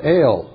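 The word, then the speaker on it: אל: Pronounced ale, you know, like beer, ale.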